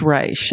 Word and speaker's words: Reich: It looks like it's spelled Reich, but it is pronounced Reich.